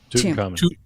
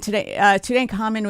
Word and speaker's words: Tutankhamun: So they stopped in 1908, but then do you guys remember, tell me how to pronounce this. Is this Tutankhamun or Tutankhamun? Tutankhamun.